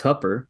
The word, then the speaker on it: Hooper: So It's spelled Hooper, but it's Hupper. However, if you go to the city's website, if you want to learn how to pronounce it, they say it's like hooker, but with a P.